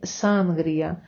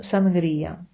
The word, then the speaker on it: sangría: українців і не тільки це вимова слова санрія Як бачите при написанні видно що наголос падає на і можливо люди саме тому і помилково вимовляли сангрія бо не бачили форму написання або не чули ніколи як правильно читається це слово але ми знаємо то будь ласочка говоримо правильно з наголосом на і читаємо сангрія е першим з впізнаваємих